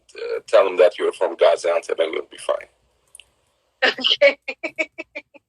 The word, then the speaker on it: Gaziantep: It's called Gaziantep. Gaziantep. Gaziantep. That's a perfect pronunciation, Lakeisha.